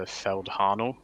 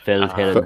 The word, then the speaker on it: Feldherrenhalle: So Adam might have to pronounce this for me, but the Feldharnel was what I was going for. Feldherrenhalle.